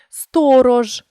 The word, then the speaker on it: сторож: в українській мові перше шиплячі ж ч ш у кінці слова та складу перед усіма голосними вимовляються твердо сторож річ жарт Вспиш джинси